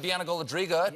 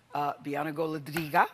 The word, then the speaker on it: Bianna Golodryga: Bianca Goladriga. I like to say her name like that because she speaks Russian, which I always get such a kick out of.